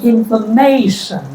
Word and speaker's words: information: So whenever you form a noun from a verb using t i o n the word stress is always the second last. So before shan whatever comes is spoken loudly.